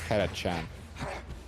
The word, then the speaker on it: Catachan: Yeah, Catachan. Yeah, that one. Kadashan, people are still debating which one is the right pronunciation. It is Karachan.